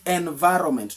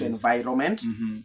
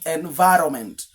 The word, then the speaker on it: environment: The environment, not environment as many have been pronouncing it, the environment.